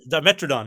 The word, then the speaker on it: Dimetrodon: Dimetrodon.